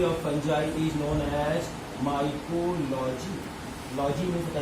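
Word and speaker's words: Micheli: Spelling लिखना माइचेली, ठीक है, पढ़ना लेकिन माइकेली।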